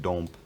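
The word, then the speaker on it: dąb: the more recent past word final plosives have become devoiced and that's why you now have domp and demby but these are both spelled with b so den bit means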